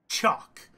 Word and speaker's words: TSIOQUE: gonna kick the tires on a game called chalk yes that is how it's pronounced it may not look that way but